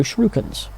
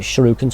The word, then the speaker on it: shuriken: special attacks and could throw shrew cones that's how I pronounce it but only shuriken to shurikens but that's how I always say it we also have skill